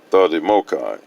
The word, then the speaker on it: THDMOCCI: THDMOCCI, pronounced the Demokai.